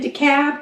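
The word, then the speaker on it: DeKalb: decator decab deur and it's weird cuz it's decab but it's d e k a lb yeah or deal but that's not how they say it cab Ator de murder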